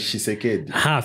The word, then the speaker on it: Tshisekedi: The pronunciation is Tshisekedi. From Felix Tshisekedi, amounting $20 million to buy the country's silence on corruption.